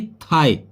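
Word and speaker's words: thigh: है last mains होता है ना जैसे की थाई टी ह आई जी ह हे केवल इतनी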